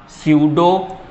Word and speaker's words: स्यूडो: P silent है तो marker भी उसको साइलेंट ही करना चाह रहा है।